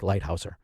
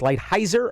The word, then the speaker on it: Lighthizer: And I've been corrected on how I pronounce his name. His name is shit to me. So I don't really care if it's Lighthizer or Lighthouser.